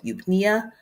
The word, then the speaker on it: eupnea: A patient with a respiratory rate of 8 breaths per minute is experiencing, is it A, hypoventilation, B, hyperventilation, C, the E is silent, so eupnea, or D, tachypnea?